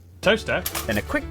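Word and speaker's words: Towcester: hole mous hole next travel North up to toester toester then a quick J to Gotham wait no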